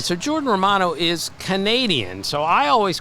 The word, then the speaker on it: Romano: Here's Jordan Romano of the Toronto Blue Jays. Right, so Jordan Romano is Canadian.